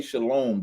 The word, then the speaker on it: shalom: When you say shalom, the O. They inserted the Y for the O. So when they're pronouncing it, they put the Y sound separate.